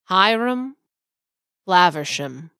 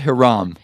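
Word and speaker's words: Hiram Flaversham: would pronounce his name his name is hyam flaversham hyam flaversham yes not Haram it is not Haram the the man is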